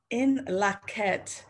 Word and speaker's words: In Lak'ech: In Lak'ech is a greeting, a Mayan greeting. It's spelled I-N, capital L-A-K hyphen E-C-H, in Lak'ech.